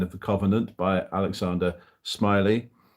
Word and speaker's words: Smellie: wanting to read through Smiley's history of the Covenant as it's called men of the common Covenant by um Alexander Smiley spelled smelly but pronounced smiley and um this is